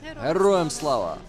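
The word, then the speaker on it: Героям слава: Heroям slava.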